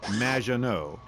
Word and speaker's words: Maginot: It's Madge, which rhymes with badge. As in duh, and no, as in more than you. Maginot.